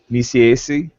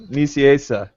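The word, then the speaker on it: Nicieza: This was my pick for the week, and this one is written by Fabian Niciesi. Did I totally butcher it? What is it? GCCBC? Niciesa.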